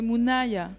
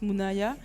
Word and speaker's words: Moonaya: D'ailleurs, c'est Mona ou Monaya? C'est Mounaya. Monaya. Oui, ça se prononce Mounaya.